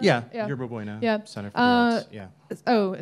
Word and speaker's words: Yerba Buena: In 2012, Yerba Buena Arts Center, is that how you pronounce it? Is that right? Yeah, Yerba Buena Center for the Arts.